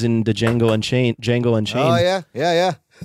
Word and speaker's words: Django: the jungle and chain Django and Chara I know the D is silent my best like the